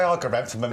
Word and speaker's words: Argyranthemum: Well, I say Argyranthemums. There we go. I like the differences in how we pronounce things.